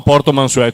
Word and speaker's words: Portomansuè: Po No, Portomansuè, tutto unito. Vabbè, no, adesso non sottoutilizziamo Portomansuè, con l'accento sopra la E.